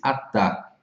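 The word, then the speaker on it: חטא: Mas há um termo genérico para designar o pecado com todos os seus detalhes, shatat, e o seu equivalente verbal, shatá, que pronuncia-se atá, que literalmente significa errar o alvo.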